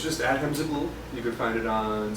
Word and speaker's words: Zaghloul: Adham Zagul, Yes. and it's spelled the way it sounds. Pretty much. Yeah. So Exactly. ADHEM Yes. and then ZAGOOL. ZAGHLOUL. So Zag- that's Zagul. Yeah, you're kind of close though.